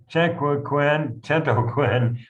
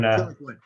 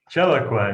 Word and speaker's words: Chiloquin: So me from Islamabad, Pakistan, and Mark Gaffney from Chentoquin, Oregon. I believe I pronounced that correctly. We're saying Chiloquin. Chiloquin.